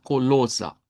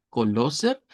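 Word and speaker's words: Kolosser: Lo vamos a leer como colosa. Colosa con una eh a al final una a centralizada, colosa. Eso sería eh con la pronunciación de alemán estándar, porque si lo leemos como e r al final y decimos algo como coloser, coloser sería más acento austríaco, ¿verdad?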